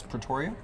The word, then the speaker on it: Pretoria: In South Africa's capital, is it Pretoria? Is that how you say it? Yes, Pretoria.